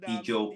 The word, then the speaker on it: Ijaw: And Ijo people. Sorry? Ijo people. Ijo. Ikyo, yes. How do you spell that again?